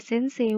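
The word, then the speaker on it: 先生: di kantin adalah Yamada Sensei wa kantin ni imas. Yamada Sensei wa kantin ni imas. Bisa ya? Dan kemudian ini ada kanji sensei. Ini cara bacanya adalah sensei. Ayo, dari pelajaran kita selama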